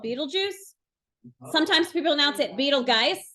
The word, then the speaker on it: Betelgeuse: So most people are calling it Betelgeuse, but it's Betelgeuse.